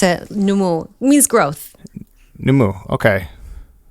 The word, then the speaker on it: Nomu: you have the issu South Nu mu oh numu okay okay so I have the spelling right okay got it but it's like you pronounce it numu means growth numu okay like the listenership of